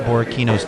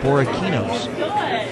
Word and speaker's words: Borrachini's: Well, Or Kini, but we didn't know that C was the hard C as opposed to It's a hard C.